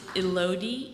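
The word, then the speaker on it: Elodie: hope I'm saying it right her name is elodi e l o d i e McCormick Mion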